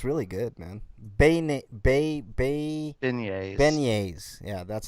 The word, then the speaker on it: beignets: shrimp regularly yeah it's it's really good man beignets yeah that's how you say it yeah like you should protect my pronunciations mine was better damn it i like